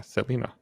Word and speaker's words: Selena: Because that's how you pronounce it. Yeah, Selena.